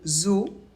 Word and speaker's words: zoo: par exemple attention exception le mot zo s'écrit Z oo mais on ne prononce pas ou et voilà c'est terminé